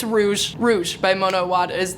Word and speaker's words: Rouge: I can't remember if I said Rouge or Rogue by Mono Awad I'm really nervous that I said it wrong it's Rouge Rouge by Mono wad is the actual book